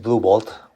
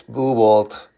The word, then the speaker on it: Blue Bolt: And here we have Blue Bolt, which is a funny name. Just make sure you don't forget the T to pronounce it. So this is Blue Bolt.